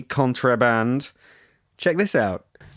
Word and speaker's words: Contraband: A very good version, which I love, by the way, is someone called Contraband, spelt with an E, Contraband.